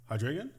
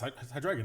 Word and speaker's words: Hydreigon: Hydreigon? What is it? Oh my God, my brain. It's Hydreigon, isn't it?